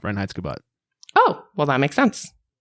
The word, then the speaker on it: Reinheitsgebot: Yeah, Reinheitsgebot.